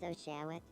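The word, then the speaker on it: Oshawott: Now, let's see if they pronounce it Ashawat or Oshawat. My name is Oshawat.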